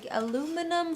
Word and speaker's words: aluminium: It does not come Aluminium. with aluminium foil. I think that's how they say it in Denmark, where the army painter guys are from.